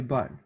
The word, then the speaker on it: bol: Except with the letters, with the consonants, C, R, F, and L. Okay? With these consonants, we do pronounce them. For example, bec, bar, bref, et bol.